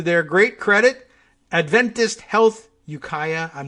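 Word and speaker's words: Ukiah: uh Yukaya okay okay this is Yukaya not yukia I don't know got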